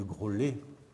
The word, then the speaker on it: Graulhet: je vous rappelle que la ville de graulhet comment dix se prononcent normalement grelier elles achèteront une transcription de